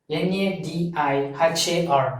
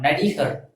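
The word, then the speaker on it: நடிகர்: So this actor represents N-A-D-I-H-A-R, Nadihar.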